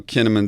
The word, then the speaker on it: Kinnaman: in Sweden you know kinnamon doesn't sound like that you know doesn't really rhyme with cinnamon and Swedish but uh but then